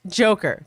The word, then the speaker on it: JKR: Brian Solis says, instead of writing John, Kim, and Ray, I'm redubbing you guys Team JKR, pronounced Joker, to save characters.